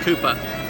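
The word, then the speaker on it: Cowper: of our British imperialism so Cooper is about Co WP er but pronounced Cooper he's a minor poet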